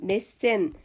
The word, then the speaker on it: 熱戦: 열전이라는 것은 넷센 그리고 전개라는 것은 텐카이라고 읽죠.